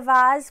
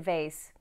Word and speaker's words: vase: i told my parents i broke the vas playing soccer in the house now i realize you might pronounce it vase and that's all right too what's not all right